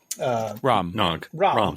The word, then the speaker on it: Rom: Rom. Sorry. One syllable, dude. One syllable.